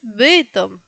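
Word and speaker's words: Bytom: Ah, y luego alguien le dijo, "No es beitom, es bitom. Vitom."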